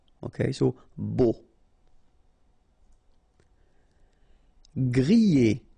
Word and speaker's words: grillé: Grillé. Okay, at the end you've got this E, and then remember double L after E, y, grillé, grillé.